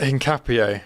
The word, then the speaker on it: Hincapié: which with Piero Hicampe, am I saying it right? Hincapié. Hincapié, there you how go.